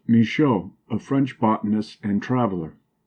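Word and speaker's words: Michaux: of the Giants TSC was a giant misho pronounced misho a French botanist and traveler vanm a Belgian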